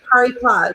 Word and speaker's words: Paris Plage: it happened to be Paris Plage. Is that how you say it? Oh yeah, yes, where they have the banks of the Seine as the beach.